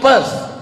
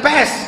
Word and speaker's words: Perth: I am going to Perth. Bukan pes, kalau pes penyakit. Perth.